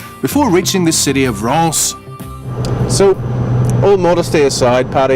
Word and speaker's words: Reims: Reims. In France. It's pronounced Reims, spelt R-E-I-M-S, isn't it?